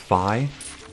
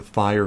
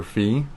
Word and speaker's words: Fi: were debating as a fire fee and people were so sad that they were right however the japanese pronunciation where the translation comes from is actually resembles more closer to phi than fee it's fi and then